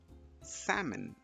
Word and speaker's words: salmon: and finally we have this word which is pronounced as salmon salmon salmon is a type of fish that